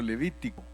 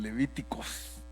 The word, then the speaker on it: Levítico: Algunos hermanos le dicen Levíticos, pero la realidad es que en español es Levítico y en inglés sí es Levíticos, ¿verdad? Entonces algunos lo pronuncian como Spanglish, Levíticos, pero es Levítico.